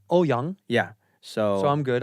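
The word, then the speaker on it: Ouyang: it it was terrible how do you say it properly uh in Mandarin will be oh young oh young yeah so so I'm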